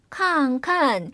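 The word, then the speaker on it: 看看: 이때 두 번째 음절은 칸칸. 사성으로 그대로 하시면 안 되고 경성으로 읽어줘야 한다고 했죠?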